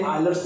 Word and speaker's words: Euler: कुछ लोग इसे यूलर पढ़ते हैं हिंदी में, और हम विदेश और फॉरेनर जो पढ़ते हैं इसको आयलर बोलते हैं, आयलर थ्योरम्स।